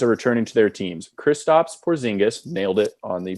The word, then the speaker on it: Kristaps Porzingis: Kristaps Porzingis, nailed it on the pronunciation, is making Unicorn.